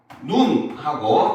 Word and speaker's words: 눈: 눈하고 짧게 발음을 하면 바로 뭐다? 이거는 시각기관을 얘기를 하죠. 그렇죠? 사람의 시각, 눈을 그죠 바라보는 기관이죠. 감각기관이죠. 그런데 눈하고 이렇게 세모 마주보는 표시거든요. 이렇게 길게 표시를 하면은 바로 뭐다?